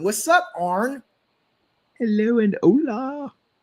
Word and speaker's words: hola: Hello and hola. Hola. H is silent.